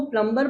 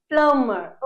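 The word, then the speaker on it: plumber: Okay, now प्लम्बर, प्लम्बर का क्या काम है, देखो जनरली यहाँ पर आप इसको प्लम्बर पढ़ते हो, बट the pronunciation will be प्लम्बर।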